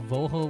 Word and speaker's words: Vogel: Um And then we got vogel where it's pronounced like an f so it's like fogle.